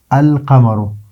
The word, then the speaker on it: القمر: ہیں۔ حروف شمسیہ میں جس طرح سورہ القمر جو ہے القمر، تو یہاں پر بھی لام کا جو تلفظ ہے وہ ہوتا ہے القمر۔ اور الشمس میں دیکھ